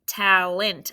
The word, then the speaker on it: talent: And then this is where it got tricky with that schwa sound. Sounds like it could be talent, I-N-T, but it's really what? E-N-T, right. Tal is what kind of syllable? Right, it's closed. Ent is also closed, but this E I would probably mark there as a schwa because we don't really say talent. We say talent.